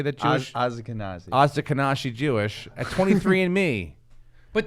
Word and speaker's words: Ashkenazi: Find out if you have Oshkosh Jewish in you. Is it Oshkosh? How do you say that Jewish? Ashkenazi.